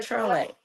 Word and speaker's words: Trolle: Trole. Okay. As in troll.